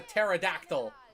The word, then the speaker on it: pterodactyl: We've got a pterodactyl. The P is silent.